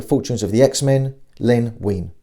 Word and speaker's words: Wein: of the x-men len wein whose name some people stupidly pronounced as wine he had already written